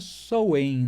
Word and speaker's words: Samhain: Se escreve Samhain e a pronúncia Samhain, né?